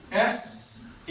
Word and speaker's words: says: It's actually S-A-Y-S. When you pronounce it, it turns into the says. Means this S changes into Z sound. Says.